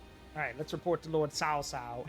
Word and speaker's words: Cao Cao: Alright, let's report to Lord Cao Cao. And yes, that is how you pronounce it, Cao Cao.